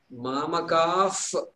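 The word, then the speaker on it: māmakāḥ: And when the pa follows a visarga, then there is a pronunciation called like the letter F in English before the letter P.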